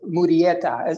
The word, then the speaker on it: Murrieta: mean i i've i've heard of joaquin mudieta is that how you pronounce it yeah see see um you